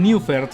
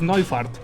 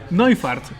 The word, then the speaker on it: Neufert: que se escribe Neufert, pero en realidad es alemán, o sea, su pronunciación es Neufert. ¿What? Neufert. como fart O sea, de pedito. No, es Neufart, así se pronuncia en realidad.